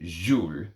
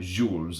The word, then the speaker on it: Jules: Jules, and you're supposed to pronounce it Jules, not Jules, apparently.